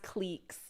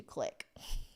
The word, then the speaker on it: clique: I used to always say cliques, and then I said clique in Vancouver, and I just got so many people staring at me, and I very quickly changed my pronunciation to click.